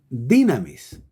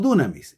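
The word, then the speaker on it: δύναμις: De hecho, la palabra griega para designar poder es la palabra dynamis o dunamis. Se puede pronunciar de las dos maneras. Si decimos dunamis, es la pronunciación antigua del griego. Y dynamis es la pronunciación actual, más moderna del griego.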